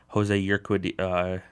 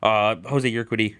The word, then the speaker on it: Jose Urquidy: for a batter, and Jose Urquidy, I think is how you pronounce his name, for 2/3 of an inning. Yeah, I don't have the way to say his name. Jose Urquidy, who pitched well in